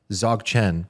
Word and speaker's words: Dzogchen: And I hope I'm pronouncing this correctly because, everybody says it differently, but it's Dzogchen, but it's spelled D-Z. You guys have probably seen the word D-Z-O-G.